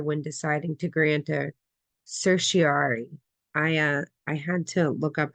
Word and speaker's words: certiorari: Um, what factors do the Supreme Court consider when deciding to grant a certiorari? I had to look up how to pronounce this because it was killing me.